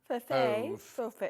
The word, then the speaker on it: Fauve: Fauve. Fauve. Like mauve.